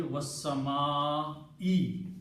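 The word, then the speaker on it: والسماء: For the oath to happen, this last dhamma has to change into a kasra. And the pronunciation should be was-sama'i now.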